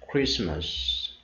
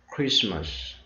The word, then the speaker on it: Christmas: And one good example for you is Christmas. We have T silent here. Christmas.